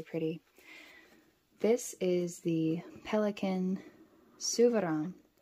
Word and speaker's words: Souverän: the anthracite black now I'm probably going to be saying suvaron and stressman that's pretty much what all of the Americans say is stressman instead of actually using a correct accent which I'm not really capable of doing so gorgeous packaging absolutely